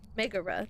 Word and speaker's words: Megara: Megara, thank you.